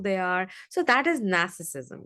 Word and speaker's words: narcissism: Now, again, note, I'm not saying narcissism, I'm saying a narcissism, right? Again, the R is silent.